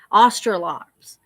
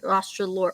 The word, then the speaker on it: Australorp: herbal remedies and foraging australops australorps or ostrolops yeah those are good nostralor i always say it wrong i'm sorry australorp those are good heavy